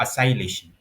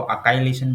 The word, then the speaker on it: acylation: नाम है Friedel craft असाइलेशन। ठीक है। कोई इसको असाइलेशन बोलता है, कोई इसको अकाइलेशन बोलता है। ठीक है, तो जो भी आप प्रोनाउंस करते हो तो ये वो रिएक्शन है।